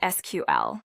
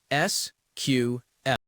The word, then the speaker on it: SQL: This one is fun because there are two correct answers for real. The most common way and what I usually say is just to say the letters S Q L. Mhm. Me, too. I'm writing an SQL query, but you will also hear people call it SQL.